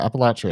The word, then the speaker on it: Appalachia: Appalachia.